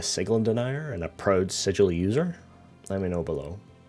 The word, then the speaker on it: Sigil: you were Outsider but you pronounced the name of our city sigil not Segal and there can be